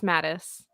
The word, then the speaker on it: Mattis: You're close. It's Mattis. Mattis.